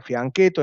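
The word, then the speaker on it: fianchetto: se escribe con doblete fui a nieto se pronuncia en realidad franquet o en italiano el fin que todo de sacar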